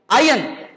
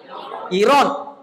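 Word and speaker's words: iron: ஆனா அந்த சொல்லுடைய எழுத்தின் அடிப்படையில் நீங்க உச்சரிப்பதா இருந்தா அயன் வரக்கூடாது. வரலாமா? ஒய் இருக்காங்க, கிடையவே கிடையாது. ஐ ஆர் ஓ என் தான், ஐ ஆர் ஓ என் தான். எப்படி உச்சரிக்கணும் உள்ளபடியே நேரா? நீங்க மலாய் மொழி முறைப்படி உச்சரிங்க. என்னையா? இரோன். அதுதான் உண்மையான உச்சரிப்பு, இரோன்.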